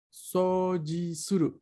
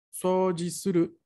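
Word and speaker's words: そうじする: Sojisuru, con la O larga, que en Roma allí se escribe sou. Sojisuru.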